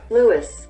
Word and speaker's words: Lewes: go with leeway's delaware lewis lewis like the name that's weird because america